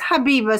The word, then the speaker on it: Habiba: It's pronounced Habiba, so it was very close.